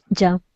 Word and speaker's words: jumped: Yeah, okay, so on the jumped, make sure that you were pronouncing the ED. So it's jumped, like a T, jumped.